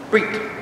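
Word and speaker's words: ברית: Even though it's spelled B-E-R-I-T-H and we think it's two syllables, in Hebrew it's only one. Brit.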